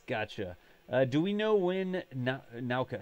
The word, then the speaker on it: Nauka: Do we know when Nauka? How do you pronounce it? Nauka? Nauka, yeah.